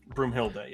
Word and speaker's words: Broomhilda: And then when he shows Brumilda, is that how you say her name? Broomhilda, yeah.